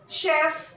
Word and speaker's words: chef: in the French language, which are derived from the French language, have the pronunciation sh.